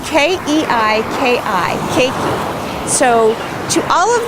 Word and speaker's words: keiki: and so the hawaiian word for children is keiki it's k-e-i-k-i keiki so to all of the keiki in